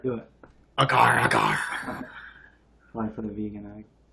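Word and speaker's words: agar agar: Hey, Gary Gay, you say it like the pirate. Do it. Agar, agar.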